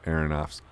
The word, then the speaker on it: Aronofsky: in The Wrestler and like working with Darren Aronofsky?